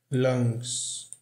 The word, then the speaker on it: lungs: Consuming all the air inside, o D aqui não é pronunciado, inside my lungs. Aqui, lembra que eu falei que as palavras que terminam em NG, esse G nunca é pronunciado e o som do